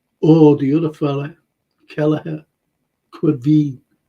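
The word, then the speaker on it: Caoimhín: I said before, Daryl, you know, if it would have been Allison or the other fella, Kelleher, Quiveen Kelleher. That's how you pronounce his name.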